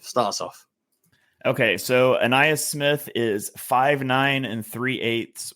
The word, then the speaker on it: Ainias: How do you pronounce the first name of? It is Ainias Smith.